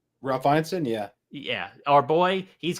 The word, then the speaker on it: Ineson: You know our boy Ralph Ensign? Ralph Ineson, yeah.